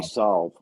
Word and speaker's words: salve: Is that how you say it? I say solve. Solves. It's like you're going to solve a problem, so it's a salve.